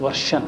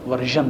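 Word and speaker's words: version: یہ تلفظ درست ورشن ہے، ورژن نہیں ہے.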